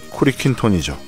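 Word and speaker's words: クリキントン: 주인공의 이름은 공리금단으로 일본어 발음은 쿠리킨톤이죠.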